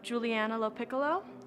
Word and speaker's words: Juliana LoPiccolo: say and spell it. Yeah. Juliana LoPiccolo, Juliana, LO capital PICCOLO.